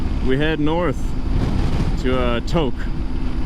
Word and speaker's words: Tok: head north to uh toke which is spelled tayo k and i would have thought for sure was brown's talk you know but no everything's pronounced different here in alaska i'm surprised anchorage